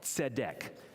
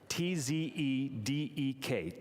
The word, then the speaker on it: tzedek: The old one is called tzedek, T-Z-E-D-E-K, tzedek.